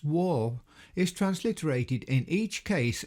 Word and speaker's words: waw: Notice how the Arabic letter which is today pronounced war is transliterated in each case as a G.